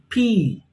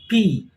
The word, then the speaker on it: pea: english we call it p look at the spelling p e a but the pronunciation is p p double e so pronounce it once more with me p now look at this